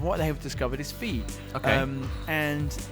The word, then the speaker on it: Fe: didn't know whether to pronounce it F-E or Fee. Yeah. Do you know now? It's Fee.